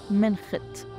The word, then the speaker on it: منخت: وبتتنطق ابيتو بتتنطق والكتان وبتتنطق منخت حنلاقي بعدها كلمه انقاء